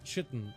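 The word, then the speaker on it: chitin: with collecting 1,500 nerubian chitten or k heard it pronounced either way I call a chitten but you first need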